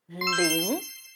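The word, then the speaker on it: 零: 0, which sounds like líng. Repeat after me. Líng means 0.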